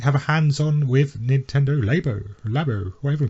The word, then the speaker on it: Labo: and play on Nintendo Labo. I did, yes. Is that pronounced right? It is correct, yes, it is Labo.